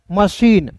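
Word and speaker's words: machine: तो यहां पे देखिए सीएच का तो च होता है लेकिन यहां पे सी एच का श के रूप में उच्चारण करेंगे। मशीन।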